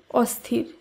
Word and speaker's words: অস্থির: যেমন অসম্ভব শব্দটি শুদ্ধ উচ্চারণ অসম্ভব, অস্থির শব্দটি শুদ্ধ উচ্চারণ অস্থির, অবিচার এর শুদ্ধ উচ্চারণ অবিচার, অনাচার অনাচার, অচল অচল, অক্ষম অক্ষম।